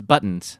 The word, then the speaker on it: buttons: buttons what is it it's buttons buttons buttons like you almost say it like two D's buttons oh oh buttons